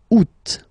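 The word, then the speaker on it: août: here two options because uh well two options are acceptable in French the first one you don't pronounce the final T u second one you pronounce it oot all right so remember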